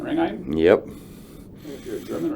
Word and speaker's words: Ringheim: H is silent, Ringheim.